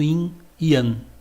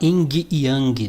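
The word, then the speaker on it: yin-yang: Esse é o princípio do inan. Que o leigo vai falar ing yang, né? Você aqui na unidade você já sabe a pronúncia correta.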